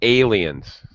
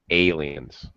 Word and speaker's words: aliens: Pronunciation, aliens. It's a sound. Okay. Like bake, fake, aliens. All right. It's that a sound. Hard A.